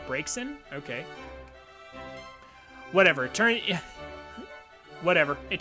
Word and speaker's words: Braxen: Braxen. No, Bryson. Bray. Oh, like breaks in.